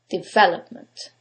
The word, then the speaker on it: development: syllable takes the stress is it the first one development is it the second one development the third one development or the last syllable development in this case is the second syllable development now you couldn't know